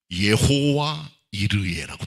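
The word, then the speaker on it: יהוה יראה: 여호와 이레란 말에 히브리 원어는 여호와 이르예라고 돼. 여호와 이르예. 비슷합니다. 발음이. 우리 성경 번역하고 여호와 이르예. 영어로는 제호바 지레입니다. 그 말은 이 산에서 여호와께서 준비하신다는 거죠.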